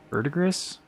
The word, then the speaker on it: verdigris: Verdigris? Verdigris. Actually pronounced verdigris, And Helm of Solitude, sure.